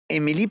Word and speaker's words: Émilie: prononce avec un et. Émi- Émilie Poirier, qui est à la tête d'une entreprise, ben, en fait, familiale, tu vas tout nous raconter ça, Mixo Web.